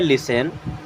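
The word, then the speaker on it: listen: लिसन टू मी, यहाँ पे T silent होता है एंड इसे पढ़ते हैं लिसन।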